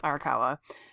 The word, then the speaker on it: Arakawa: hiro oh god i'm going to say her name wrong hiromu arakawa i know it's arakawa she's pretty awesome by the way her uh